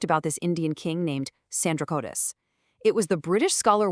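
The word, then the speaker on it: Sandrocottus: this Indian king named Sandra Cotus. It was the British scholar William Jones who had this massive aha moment. He realized Sandra Cotus was literally just the Greek pronunciation of Chandra Gupta Moria.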